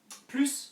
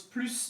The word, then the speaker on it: plus: to answer the question P plus on his own you pronounce the S okay so if it's on the OWN on the own pronounce the S you pronounce the S of plus if it's followed by